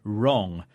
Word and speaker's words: wrong: That's W-R-I-T-E, like to write a letter, and wrong, W-R-O-N-G, meaning not correct. In fact, there's a rule here, which is we don't usually pronounce the W in words that begin W-R.